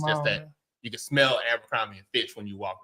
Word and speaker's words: Abercrombie: And she's like, it's Albert, Nathan, and Finch. They gonna They look. They gonna know. Abercrombie and Finch. Did I say it right? Yeah. Okay, Not cool. Abercrombie.